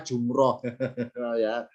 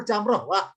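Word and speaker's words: جمرة: sudah barangkali maaf ya Ini barangkali sedikit Salah kaprah dibacanya jumroh disusunnya setelah bahasa salah sebetulnya yang bener Jamrock bukan Jember ini juga bener Jamrock kita meluruskan boleh sekarang yang benar jamroh kita melawan arus nanti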